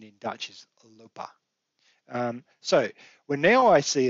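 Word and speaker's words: lopen: as well because in english that would be lopin um but the pronunciation in dutch is lupa so when now i see a sentence that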